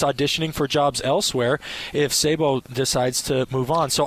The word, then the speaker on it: Sabo: And I always mispronounce her last name. Is it Sabu? Sabo.